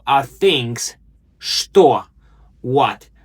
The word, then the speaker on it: что: Что? What? Remember, it's pronounced with a sh sound, not che.